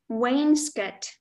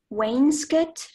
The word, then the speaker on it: wainscot: hello your word is Wayne Scott may I have all the information please the pronunciations are Wainscott or Wayne's cot it's a noun it's